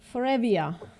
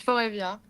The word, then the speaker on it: Favia: Foria, if that's how you pronounce uh your name. What's up? Hey. Yes, it's Favia.